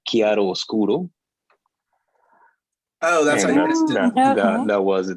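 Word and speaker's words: chiaroscuro: I was just saying that the pronunciation for that was chiaro oscuro.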